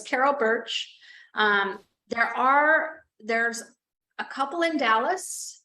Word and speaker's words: Bertsch: So it's the law office of Carol Birch, like the tree it sounds, but it's not spelled like that. It's BERTCH, BERTSCH. Yeah, so it's Carol Birch.